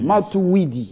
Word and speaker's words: Matuwidi: Matouidi, j'ai bien prononcé?